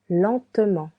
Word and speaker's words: lentement: Vit v fast v lentement lentement. You can hear three syllables. Lent te lentement.